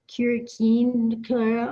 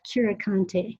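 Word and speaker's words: Curecanti: say we often hear folks say everything from curikin clara or or cure candy or you know just just people won't even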